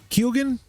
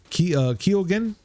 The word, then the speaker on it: Keoghan: We got to see Barry Keoghan. Keoghan. Is that how you say it? Barry Keoghan. Oh, so that was silent. Keoghan. Yes. So Barry Keoghan. It's an Irish thing.